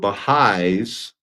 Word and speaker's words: Baha'i: In 1903, a small group of Baha'is, and this is how you spell it, so the apostrophe there is not including the plural.